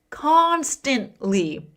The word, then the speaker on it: constantly: The stress is on that first syllable. Constantly.